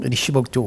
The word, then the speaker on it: Richibouctou: Est-ce que je le prononce comme il faut? Richibouctou, oui.